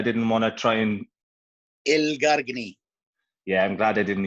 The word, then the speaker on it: Elgargni: How do you pronounce your last name? But I didn't want to try and... Elgargni.